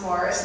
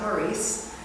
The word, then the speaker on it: Maurice: So here's the Maurice River, pronounced Morris, not Maurice.